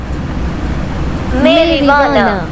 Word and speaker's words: marijuana: हाँ, मेरिवाना। भाई यहाँ पे तो जे भी साइलेंट है।